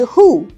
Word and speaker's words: who: there is this word who it has just two sounds w is silent so children cannot say this word they will mix the sounds of w h and o which is wrong they just need to